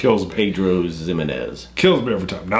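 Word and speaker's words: Pedro Ximénez: like I think it's it starts with a x but it's pronounced with Z Pedro zimz kills me every time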